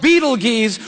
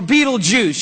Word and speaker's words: Betelgeuse: heard about this star it's called beetle G's or Beetle Juice you can pick your pronunciation I'm obviously going with Betelgeuse and Betelgeuse is incredible